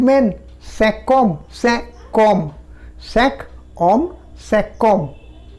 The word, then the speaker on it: cinq hommes: এই কিউটার পরে যদি আবার একটা ভাওয়েল আসে, কিউটা কয়ের সাউন্ড দিচ্ছে, তো তাহলে আমাকে বলতে হবে cinquom, 5 men, cinquom, cinquom, cinq hommes, cinquom, 5 enfants, 5 enfants, 5 enfants, 5 enfants।